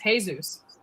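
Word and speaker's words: Jesús: it better probably not Jay is pronounced h yes in Spanish Jesus is really pronounced Jesus because it's with an age oh that's where we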